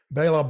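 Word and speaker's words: Béla: uh pianist let's look at the next one bayla bartok uh this this one people don't have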